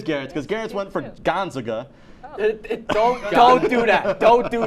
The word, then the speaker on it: Gonzaga: by saying number 1 Gonzaga like it's a cheese. So Garrett went for the team you didn't know how to pronounce. How are you supposed to say it? Gonzaga. It's Gonzaga.